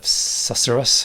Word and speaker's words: susurrus: And it sounds so different when you've got the susurrus. Is that the right pronunciation?